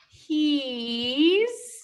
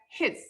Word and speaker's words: he's: that's short I, that's his. He's, his. Okay, so careful pronunciation. This is he, long E, he's. Okay, not his, but it's he's with a long E in English, he's.